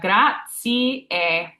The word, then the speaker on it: grazie: So that Z is this TS here. I like to break it up phonetically so it's easier to pronounce. So we have grazie, grazie.